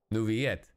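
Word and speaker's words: Neuvillette: don't pronounce the El nuviette two L's makes a y it's not like Spanish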